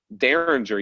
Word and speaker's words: Dareringer: two and in fact the name derringer you pronounce it you know darren's are like the gun but if you look at the spelling it's spelled dare ringer um and i you